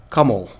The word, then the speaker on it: Kamal: my name is if you want yes yeah pronounce it correctly is kamal and uh yeah that's how you you say